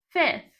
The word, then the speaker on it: fifth: Aí o fifth seria o número normal, né? Seria five. Mas quando eu vou mudar para ordinal, é fifth.